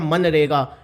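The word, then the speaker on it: MGNREGA: must have heard it, Man Rega, here G is silent in it and here its full form is Mahatma Gandhi National Rural Employment Guarantee.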